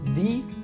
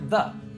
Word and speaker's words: the: So the word the can be pronounced in two different ways, the or the. So how do we know which one to use and when? Well, in American English, it's usually pronounced as the because articles like the, a, an are function words. This means that we reduce them in natural speech.